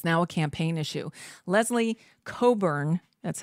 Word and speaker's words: Cockburn: Leslie Coburn, that's how you pronounce it. I know it's spelled Cockburn, but it's pronounced Coburn.